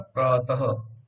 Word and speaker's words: प्रातः: अब हम विसर्ग का उच्चारण अह की तरह नहीं होता, है की तरह होता है, प्रातः।